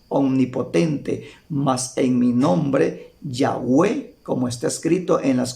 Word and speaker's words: Yahweh: conocer con las cuatro consonantes que se pronuncia yahw y los rabinos o Israel por respeto dejaron de pronunciarlo como yahwe así se pronuncia yahuel las cuatro consonantes no